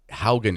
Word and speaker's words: Haugen: Will Tucker, Mr. Doug Haugen, is how you pronounce it, correct? Correct. Okay, good. I was always saying Hagen. Doug Haugen.